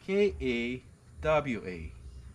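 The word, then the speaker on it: kawa: C-A-O would be traditionally spelt, if we were spelling in English, K-A-W-A, and pronounced ka-wa.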